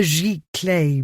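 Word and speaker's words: giclée: I pictured the word in my mind as he had pronounced it. What on earth is that? High flute name for a computer print out spelled G I C L E with an accent.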